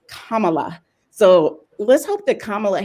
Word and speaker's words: Kamala: kamala i heard i i heard her name pronounced wrong so many times that now i have to correct myself it's kamala so let's hope that kamala harris really keeps